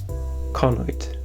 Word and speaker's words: conoid: Conoid. Sorry, not pronounced it correctly. The accent is in the first syllable.